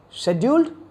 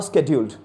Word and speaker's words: scheduled: Wait, scheduled or scheduled? Having confusion on that because most of the people they pronounce it as scheduled, and nowadays few people they started pronouncing it as scheduled. Fine, very simple explanation for that. Scheduled, British accent; scheduled, an American accent.